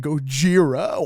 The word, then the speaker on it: Gojira: Yeah, and Gojira. Can't fucking and Gojira. Why do you say it like that? Because that's how you pronounce it in Japanese.